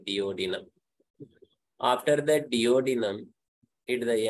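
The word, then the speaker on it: duodenum: enter to the diodynamics the right pronunciation you can say deodino after that dodynam did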